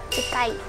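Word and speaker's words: 近い: Chikai.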